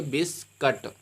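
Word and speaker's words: biscuit: नियम में पढ़ा है यू के बाद अगर स्वर ए जाता है तो यू आपका साइलेंट इसको पढ़ेंगे बिस्कुट क्या बनेंगे बिस्कुट मिंस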